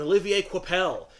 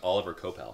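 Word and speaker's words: Olivier Coipel: the first volume from Jay Michaels shinski and Olivier quel I've said that name so many times over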